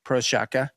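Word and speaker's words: Procházka: Prochazka. Prochazka. Prochazka, yeah. They pronounce it Prochazka.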